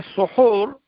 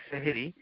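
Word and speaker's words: سحور: ও সুহুর, যে তোমরা সুহুর, এই খাবারটাকে বলা হয় সুহুর, ইফতারকে বলা হয় ফুতুর। ফুতুর আর সুহুর, এটা বাংলাদেশে বলে সেহেরি। সেহের যদি হা দিয়ে, সেহের ওইভাবে উচ্চারণটা শুদ্ধ নয়, এটি হচ্ছে সুহুর।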